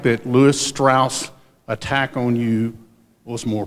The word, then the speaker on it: Strauss: feel like that Lewis Strauss attack on you was more personal political or both yes the question is about L straws spelled Strauss pronounced straws he was the commissioner